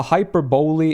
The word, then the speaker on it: hyperbole: No, there's an E at the end, Ravi. Like, a hyperbole is like it's like,